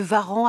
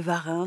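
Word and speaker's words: Warens: Madame de Varan. Alors, on m'a dit qu'il fallait prononcer ainsi. Je vois qu'il y a des rousseau qui disent encore madame de Varin. Donc, je suis un peu perdu mais je vais dire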